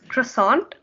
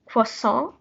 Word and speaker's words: croissant: the first one is you might have heard it as croissant but it's actually pronounced for song as you can see